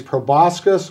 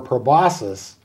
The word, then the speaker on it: proboscis: They drink the nectar with their, it can be pronounced two different ways, proboscis or proboscis.